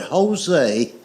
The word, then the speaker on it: Jose: The word Jose is J O S E, but it's pronounced with a H."